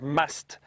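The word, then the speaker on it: musth: a stage known as must which is spelled m s t h and it's apparently an Indian word must is the the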